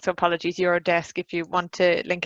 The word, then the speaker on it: Eurodesk: very correctly corrected me it's actually the pronunciation is you're a desk and so I've just read that wrong so apologies you're a desk if you want to